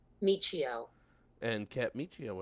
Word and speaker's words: Miccio: weeks and uh how do you say your last name proper Michio and can't meet you